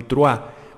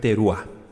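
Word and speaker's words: teruah: teru o yom teru algunos dicen yom trua pero es teru si se escribe con sheva Qué significa significa Día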